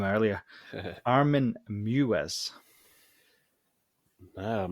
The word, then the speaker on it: Meiwes: Armin Meiwes. No, I'm not actually. No, you caught me out this week. Good. You'll love this. It's actually Meiwes.